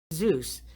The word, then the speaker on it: Zeus: zeus ophius and medusa zeus he is an ancient greek god he is the god of gods on mount olympus zeus rhymes with juice he creates disturbances in